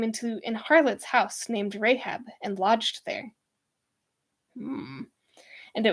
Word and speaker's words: Rahab: anyone's right name incorrectly rahab pronunciation in the bible let us find out together announced as rahab rahab okay so of course i'm completely incorrect all right and joshua